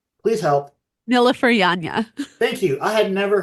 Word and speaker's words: Nilüfer Yanya: Nilleryan. Please help. Nilüfer Yanya.